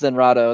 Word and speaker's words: Zenrado: is Zen, is your name pronounced Zenrado or Zenrot? It's pronounced Zenrado. It's pronounced exactly like his Japanese name.